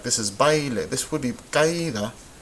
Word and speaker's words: baile: We have baile and caída. Baile, caída. Well, this, we can see the diphthong right here. The a and the e together make baile. 2 syllables, right?